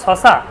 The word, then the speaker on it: শসা: মানে তালুবসা দিয়ে বলি শসা শসা খাবি শসা মানে শসাকে সসাই বলবে এটা হচ্ছে সমস্যা তাদের দন্তসের উচ্চারণ সঠিক স আবার কিন্তু শসাকে বলবে সসা আমারই একজন বান্ধবী ছিল